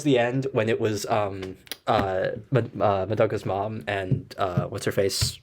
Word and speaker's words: Madoka: Um, yeah, no, when they were talking about like remembering like memories of Madoka. That's how you pronounce the name, Madoka.